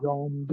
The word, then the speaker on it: zombie: Zombie. Okay. Not jaw. Zombie. Okay.